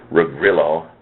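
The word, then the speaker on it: Ruggirello: Again, he's Giacomo, that's G as in George, IACOMO, last name Rugrillo. I may have pronounced that. I may have mispronounced it, and that's R as in Ronald, U, double G, IRELLO.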